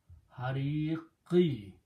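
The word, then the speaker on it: الحريق: So this becomes azabal hariqi. When you stop at the ayat, you do not pronounce this kasra. Instead, you pronounce a sukoon. So it will be azabul hariq.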